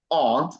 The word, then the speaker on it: aunt: You don't want to refer to your mom's sister as an insect, so the word is aunt and not aunt, all right?